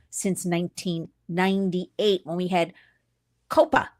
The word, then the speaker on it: COPPA: I'm telling you because this is the first piece of child safety legislation since 1998, when we had COPPA, C-O-P-P-A, or COPPA. It's pronounced all different ways.